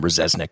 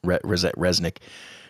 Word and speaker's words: Rzeznik: But it's when they got, I guess you say his name, Rzeznik. That's how I've always says it, Rzeznik.